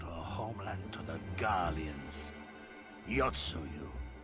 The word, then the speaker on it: Yotsuyu: Yotsuyu. Yotsuyu.